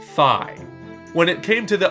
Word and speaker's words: Fi: And yes, it is pronounced Fi.